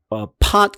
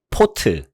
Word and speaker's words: pot: 근데 우리나라 말소리에 우리나라 사람들은 이 오자를 거의 오 소리로 많이 생각을 하는 것 같아요. 오. 그래서 pot 같은 경우도 포트 이런 식으로 발음하죠. 포트. 우리가 포트라고 그러죠. 자, 이런 거가 바로 이제 잘못된 방식이에요.